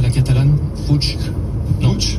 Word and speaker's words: Puig: Vous le prononcez bien à la française, pas à la catalane? Puig.